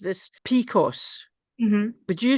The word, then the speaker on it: PCOS: this right because I have a friend who pronounced this picos. Mhm. Would you say that as PCOS? So we would say Picos, but we would also just say as PCOS is the short form of polycystic ovary syndrome.